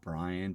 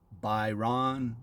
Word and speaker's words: Byron: Being called Brian typically after 39 years on this planet gets a little annoying. So, but if you would like to know the pronunciation, it's Byron or Byron, um, but is fine.